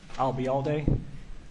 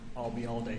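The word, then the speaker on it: Ayalde: for the record Jomar I'll be all day spelling my last name is a-l-bism Bravo a-y-a-l-d-e I'll be all day if it makes any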